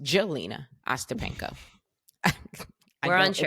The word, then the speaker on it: Jelena: She played someone named Helena Ostapenko, or it might be pronounced Jelena Ostapenko.